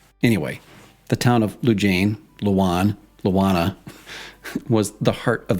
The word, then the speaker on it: Lujane: According to Elaine Hale-Jones, who's written several historical books about the valley, residents use both Luwana and Lujane. But according to McCollum's daughter, as about as close to the source as it gets, it's Luwan.